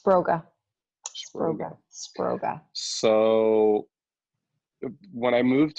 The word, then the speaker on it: Sproga: and the work that you're doing did you pronounce it's poor guys I have you spray gun it's Broga robot so when I moved to New York